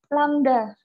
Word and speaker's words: lambda: Lambda. Ini bacanya lambda ya.